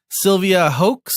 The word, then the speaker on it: Sylvia Hoeks: Sylvia Hoeks, am I pronouncing that right?